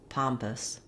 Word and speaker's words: pompous: at how to pronounce pompous so the word pompous has two syllables and the stress is on the first syllable palm so letter o